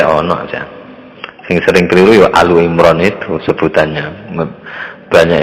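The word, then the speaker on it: Ali Imran: sing sering keliru yo alu imron itu sebutannya banyak yang mengatakan al imron padahal ya alu imron yang betul keluarganya Imran sama surah Al-Mujadilah itu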